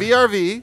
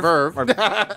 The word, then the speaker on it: VRV: VRV, or no, I'm sorry, Verve, yeah, you Verve. say it right.